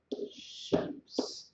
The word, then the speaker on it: الشمس: write it in English, الشمس. So you can see this shadda indicates that I'm going to pronounce the sheen twice and ignore the lam, الشمس.